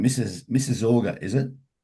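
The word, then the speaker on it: Mississauga: Mrs. Orga is it Mrs. Yeah. Mrs. Orga distribution centers.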